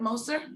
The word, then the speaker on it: Moser: introduce you to moser did i pronounce that right moser yes exactly perfect good good nice to be